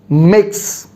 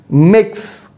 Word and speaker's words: Mx: many of you so mx is pronounced as mix i repeat mix like we write mix mix same way so